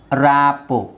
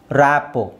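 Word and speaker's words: rapport: ballet ballet ballet ಹಾಗೆ ರಾಪೋ ರಾಪೋ ಇಲ್ಲಿ ಆರ್ T silent ಆಗಿರುತ್ತೆ ರಾಪೋ ಬಫೆ ಬಫೆಟ್ ಅಲ್ಲ ಬಫೆ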